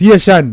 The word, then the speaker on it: Ayetian: Ayetian, he pronounce Ayetian. Yeah, man. Okay. Yeah, man. Ayetian. Bob say Ayetian he pronounce.